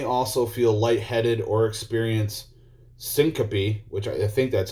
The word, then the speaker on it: syncope: the maneuver may also feel light-headed or experience syncope which i think that's how it's pronounced which is a brief loss of consciousness